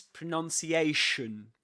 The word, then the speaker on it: pronunciation: Do you say this is pronunciation?